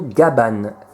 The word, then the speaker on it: Gavan: Que dire sur le personnage, donc à savoir que Gavan en fait en japonais, parce que les japonais ne prononcent pas vraiment le V, donc ça se prononce plutôt Gaban, comme un B.